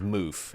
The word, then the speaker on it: Moof: the end they they say his name is moof m-o-o-f M yeah all right that's what happens